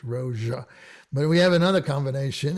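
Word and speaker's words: Rózsa: So here we again have the ZS combination. Is Miklos Rozsa.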